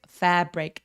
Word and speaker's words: fabric: 할 때도 마찬가지로 F 앞에서 바람 느껴지게 fabric 이라고 해주세요.